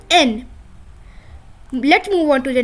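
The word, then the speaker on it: Н: taking this example see it is written as an English H but it is pronounced as n let's move on to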